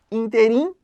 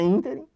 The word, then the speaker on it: ínterim: O que a gente costuma ouvir e que está incorreto? Interim, quando na verdade é ínterim.